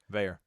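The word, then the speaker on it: Veilleux: me fathom, how was this kid, I can't pronounce the Pitt quarterback's name. Christian Veyer. Veyer.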